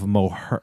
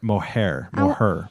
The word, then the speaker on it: Moher: Um I love to see the cliffs of Mohare. Moher Moher.